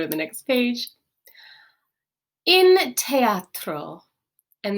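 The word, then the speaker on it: theatro: the next page in teatro and this th we do actually pronounce as a t sound instead of a sound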